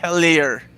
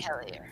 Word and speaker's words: Hellier: Hellier. That's how you say it. Thank you, Lee. Hellier.